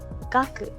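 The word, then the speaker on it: 学: Y este se lee gaku, que significa estudio, ciencia.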